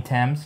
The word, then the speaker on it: Thames: more cases left in this, including the titular Thames murder case. You know, let us know. You mean Thames?